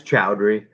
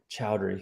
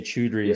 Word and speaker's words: Choudhury: last name Sam uh it's chowdry chowdery okay I was gonna say chudry so close but um